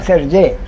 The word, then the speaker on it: Sergey: Sergey? Is it Sergey or Sergey? Sergey, but it's okay. Both, but it's really Sergey. Yeah, because in French it's Serge.